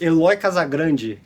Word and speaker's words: Eloy Casagrande: I'm here with Eloy Casagrande. Casagrande is the name? Yes, Yeah. that's my name. And how do you pronounce it? Eloy Casagrande.